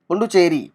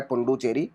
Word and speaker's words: Pondicherry: पुंडुचेरी, पुंडुचेरी को हम जो बोलते हैं वो पुंडुचेरी बोलते हैं, लेकिन इसकी जो स्पेलिंग बनती है वो बनती है पौंडीचेरी, पौंडीचेरी, PONDICHERRY, पौंडीचेरी, PONDI, पौंडीचेरी।